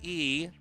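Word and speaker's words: 이: This is actually Harang E. 2 in Korean is pronounced E, and so this is a Korean word that means tiger.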